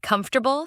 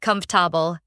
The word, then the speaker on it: comfortable: I remember mispronouncing the word comfortable for like 2 years. Nobody told me. I kept saying com-for-ta-ble when it should be comf-ta-ble.